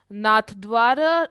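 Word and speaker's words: नाथद्वारा: भी जो है ना नाथ द्वार राजस्थान में नाथ दवार ऐसे ही कुछ प्रोनाउंस करते हैं तो इसको विश्वास स्वरूपम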